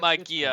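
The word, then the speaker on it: μαγεία: Yeah, it's Magia, close, there we but go. Alright. It's a hard G.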